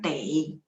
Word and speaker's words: 得: Sebenarnya ada satu lagi cara bacanya tei.